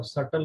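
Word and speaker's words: subtle: Minute माने सूक्ष्म होता है, सूक्ष्म मतलब सटल होगा, सी इज राइट। ध्यान रखना इसमें बी साइलेंट है, ये सटल नहीं पढ़ते हैं, सो क्या पढ़ते हैं, सटल, बी साइलेंट होता है।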